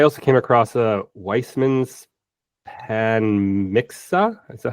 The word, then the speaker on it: Panmixia: In preparation, I also came across a Weissman's Panmixa. Is that how you pronounce that? Uh theory. Panmixia.